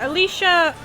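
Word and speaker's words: Alisha: so Alicia yeah that's how you say it Alicia I feel like she is going to be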